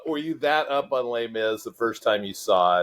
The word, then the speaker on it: Les Mis: Miz love l m and lay Miz rhymes with another one of your favorites Grizz go Grizz absolutely the